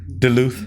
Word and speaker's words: Duluth: michael cena all right atlanta georgia how you pronounce the law duluth duluth yeah duluth georgia georgia yeah all right man appreciate it